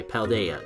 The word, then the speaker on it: Paldea: because I'm tired I'm not even gonna try paldea there we go Valdez stars are all the